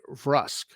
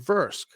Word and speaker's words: Vrusk: think it's mostly humans but let's say they pronounce it the proper way rusk instead of verse you would then be able to use in